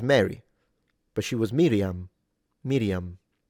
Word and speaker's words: Miriam: Miriam. I would roll the R a little bit, even though modern Israeli don't.